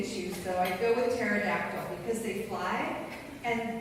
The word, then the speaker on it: pterodactyl: If she forced me to choose, though, I'd go with pterodactyl because they fly and they start with a silent P, right?